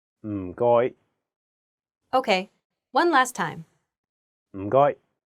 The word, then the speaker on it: 唔該: The first character is in a very low tone, 4th tone. It sounds a bit like when someone is thinking about a plan and they say, Notice that there is no vowel in this syllable, so you have to really stress the sound. And then the second character is in a high flat tone, 1st tone. 該, 該, Altogether, it's...